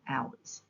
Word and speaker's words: hours: visualize hours and housework H is a silent letter in hours words that have silent